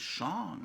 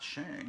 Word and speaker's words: Shang: And several points in the movie, he stops and tells people, no, my name is Shang, not Shang. You've got to pronounce it right.